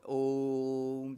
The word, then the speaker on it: Om: So Onkara is normally pronounced as a long elongated vowel. Om, that is pronounced.